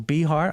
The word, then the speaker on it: Behar: Behar, I hope I pronounced your last name correctly. Yeah, that's right.